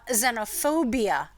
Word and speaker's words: xenophobia: also the word uh xenophobia is spelled wrong partially because um the word that start the sound is z in the beginning of the word but we spell it with an x and then it's got